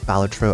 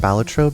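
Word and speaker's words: Balatro: I'm like that was you went through the trenches for that Batro update is wild. So, I started saying Batro because that was how Ben Star pronounced it in that like little the Game Awards.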